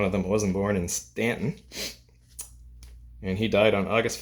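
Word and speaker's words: Staunton: it's spelled St u n t o n pronounced Stanton for some reason the quartet was formed in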